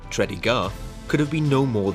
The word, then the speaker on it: Tredegar: Richmond Virginia USA orbe it pronounced tredy gar could have been no